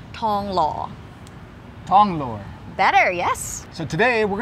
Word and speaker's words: ทองหล่อ: a co-working called Hive in Banglore wait it's actually pronounced Tong Law Without th just only T Tong law better yes so today